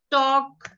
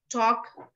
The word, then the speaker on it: talk: i always say is that letter l is silent would could should talk walk silent ale all of these words would could shoot talk walk no that's a